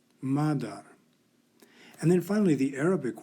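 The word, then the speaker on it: مادر: The Persian or Farsi word has a long A and is pronounced madar, madar.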